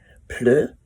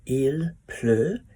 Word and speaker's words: pleut: Pleu is the word to rain. So pleu sounds like rain because it plop, plop, plops. So il pleut, pleu, pleu, pleu.